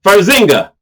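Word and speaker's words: Farxiga: And I started spelling it f a rx. She says, "Oh, Farzinga." Well, okay. At least now I know how it's pronounced.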